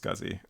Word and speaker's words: SCSI: longer remember uh but is typically pronounced scuzzy I'm pretty sure that